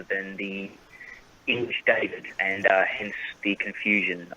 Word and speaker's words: David: born in sweden so in sweden the way you pronounce david is david and uh you know so they it's essentially just the same name but then when we moved to australia they kept it as david pronunciation rather than the english david